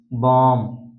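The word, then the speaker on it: bomb: बाद बी आता है तो वहां पर बी साइलेंट रहता है जैसे जैसे थम थम उसके बाद कॉम बम डम तो इन सभी वर्ड में आप देख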